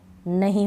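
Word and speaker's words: know: आप इन स्पेलिंग्स को तीनों को पढ़ना और फिर समझना कि आंसर, सॉर्ड और टू, इन तीनों में डब्ल्यू का उच्चारण नहीं हो रहा है।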